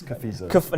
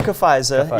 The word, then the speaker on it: Cafiza: I do know how to pronounce it. I know that it's Cafiza. Not Cafiza. Yeah, that's right.